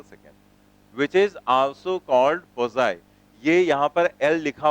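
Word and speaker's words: Poiseuille: है यहां पर तो यह इसको पजाई पढ़ा जाता है एल यहां पर साइलेंट रहता है तो हम लोग यहां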